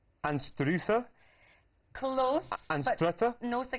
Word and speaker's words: Anstruther: Anstruther? Close. Anstrutter? No, so I got nearly. A wee bit German in there as well. It was Anstruther or Einster. Yeah, the locals say Einster.